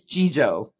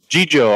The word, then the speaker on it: Jijo: puthia he actually said i said tell us if we're pronouncing your name right he was like no it's jijo jijo all right and he